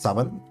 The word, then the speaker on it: Samhain: Samhain, approximately pronounced Saman, is a Gaelic festival